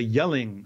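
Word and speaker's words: Jelling: are called the the yelling stones and by yelling i'm not i mean like yelling like shouting it's yelling with a j so it looks like gelling stones oh okay okay but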